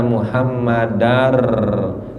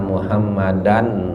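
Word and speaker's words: محمدا رسول الله: Bacanya asyhadu alla, nggak boleh asyhadu anla. Wa asyhadu anna muhammadar, nggak boleh wa asyhadu anna muhammadan rasulullah. Ya, jadi itu berarti mesti diidghamkan, dimasukkan nunnya kepada lam atau dimasukkan tasdidnya kepada ra, muhammadar Rasulullah.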